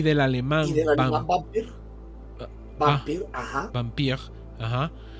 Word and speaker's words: Vampir: vampire, ajá, y de el alemán vampir es según Aunque de hecho, hermanito, en alemán es Vampir. vampire. O sea, porque la V se tiende a pronunciar mucho más como una W.